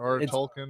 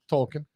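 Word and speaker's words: Tolkien: so there's that we're done tolken listen Joe pronunciation is not my strong I'm just making sure I heard it correctly Jr Jr tolken or whatever t o l k i n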